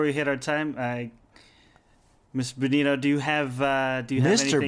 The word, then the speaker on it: Binotto: Is that how you pronounce it? Yeah. It's a me, Binotto. So have we been pronouncing your name wrong? I don't know. I don't even pay attention, actually. Because we've been saying Benito called, the so whole it's all right. time. Benito Flake, Bento Box. I've been called it all.